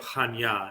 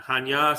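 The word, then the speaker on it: Chania: around the area of Hanya and Hanya spelled in English is c-h-a-n-i-a-hanya but it's pronounced and it's a beautiful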